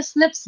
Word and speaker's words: SNPs: ऐसे लिखा जाता है SNP, यहाँ पे कहीं आई नहीं है, ठीक है, लिखा हुआ। हम लोग बस प्रोनाउंसिएशन में इसको ना, मतलब जल्दबाजी में स्निप्स बोलते हैं हम लोग, ठीक है।